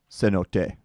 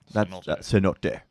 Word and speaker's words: Cenote: is cenote up first so no day so not deer no you got it we've been saying it wrong all these years now now we know